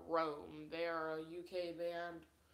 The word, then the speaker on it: ROAM: but they are called Rome. They are a UK band. Rome, like when you spell it, it's in all capitals ROAM, not ROME. Yeah, but Rome.